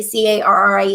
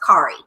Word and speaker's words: Carrie: she was a kid, her name is Carrie, Carrie, and she had a teacher correct her and says, when it's spelled this way, it should be pronounced Kari.